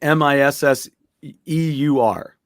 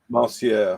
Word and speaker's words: monsieur: But do you know how to So spell it? no, I do not. Yes. No, I would say MISSEUR. MON. Oh, that's right. It's like monsieur, Monsieur.